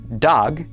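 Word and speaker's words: דָּג: It is pronounced dog and it means a fish.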